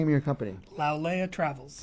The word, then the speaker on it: Lau'Lea: Lau'Lea Travels.